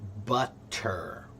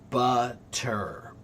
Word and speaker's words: butter: So, for example, um if I say the word butter, butter. Butter. When it's slow, there's a hard t.